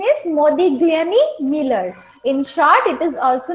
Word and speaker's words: Modigliani-Miller: so we'll understand it better so this this pronunciation is Modi gami Miller in short it is also known as mm